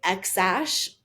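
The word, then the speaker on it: X Æ: spelled X AE which X is pronounced normal AE is pronounced Ash and so xash and that's Grimes she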